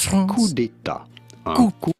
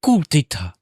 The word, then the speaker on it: coup d'état: The P to coup is silent, so is the T to état. Un coup d'état, but in English it is usually pronounced as a coup d'état.